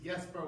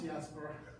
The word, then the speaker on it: Jesper: if you will but in Denmark J's are pronounced with a Y so it's with a